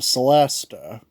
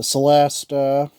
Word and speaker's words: celesta: he played, was the Celesta. The Celesta, also known as the Celesta if you're Italian, because C is supposed to be pronounced with a ch sound, but we call it the Celesta.